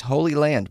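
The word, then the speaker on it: Holey Land: Holy Land, but they spell it H O L E Y.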